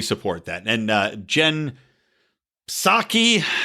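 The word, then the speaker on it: Psaki: that and uh jen saki i'm just gonna call her sake i'm not gonna pronounce the p like uh pterodactyl chensake is out there saying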